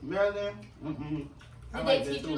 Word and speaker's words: Maryland: Okay, Baltimore, Maryland. Maryland. Oh, wow. You gotta say Maryland, because that's how they say it up there.